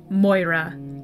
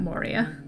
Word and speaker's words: Moira: forever in the future we will refer to her as Moira not Moria this week a huge